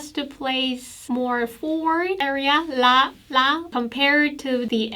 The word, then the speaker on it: ㄹ: like oh low when you pronounce this layer you kind of pronounce it abruptly like la la just smoothly so it's not like la or ro it's just la la let you know some